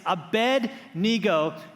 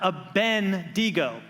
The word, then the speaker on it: Abednego: you this the lit the name is Abednego right it's a bed nigo not a Ben digo right so many these